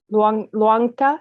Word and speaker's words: Luangta: Luangta, is that how you say it?